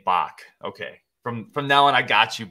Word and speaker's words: Bax: Bax Outdoor said, I need to pronounce his name Bach.